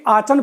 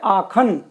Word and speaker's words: Aachen: तो देखो ये सिटी लिखा हुआ है AACHEN, इसको जनरली आचन पढ़ेंगे, लेकिन इसका जो प्रोनाउंसिएशन है वो है आखन।